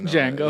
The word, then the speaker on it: Django: Django. That is crazy. The Like D is silent.